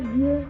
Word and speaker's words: Dieu: In pronouncing the vowel, your jaws should be slightly apart and should not move open or closed positions.